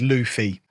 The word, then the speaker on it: Luffy: I said Monkey D. Luffy because I can read. Apparently it's Luffy. That word does not say Luffy, boys and girls.